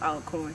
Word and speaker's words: Alcorn: carter aka alcorn but the college is actually pronounced all corn just to put that